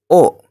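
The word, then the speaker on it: を: sake berikutnya yaitu partikel o sama halnya dengan partikel wa partikel o ditulis wo tetapi dibacanya o dan fungsi dari partikel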